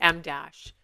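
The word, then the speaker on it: em dash: At last, the reason we've gathered here today, the m dash, which, as you probably guessed, is the width of a letter M, though it is spelled em.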